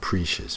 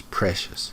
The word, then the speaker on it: precious: Precious, not precious, precious.